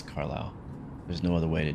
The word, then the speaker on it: Carlisle: We're coming up on a place that I think I know how to pronounce, and it's called Carlisle. That's how we would say it in America, at least. Carlisle.